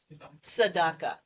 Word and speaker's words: Tzedakah: I looked it up how to pronounce it. Tzedakah.